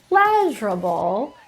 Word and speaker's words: pleasurable: You'll have stress in demonstrable for the second syllable, but pleasurable is in the first syllable.